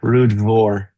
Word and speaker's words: Ruadh Mhor: Ruadh Mhor. Ruadh Mhor. That's the way I've heard it. Yeah. Mhor with the V. Yeah, Ruadh Mhor.